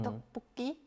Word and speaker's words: 떡볶이: And there is also another tricky things in Korean. Is the double consonant, like in tteokbokki. 떡볶이. Yeah. Yeah. It's like double 기억, like that. Yeah. Yeah. So it's kind of like a very strong sound.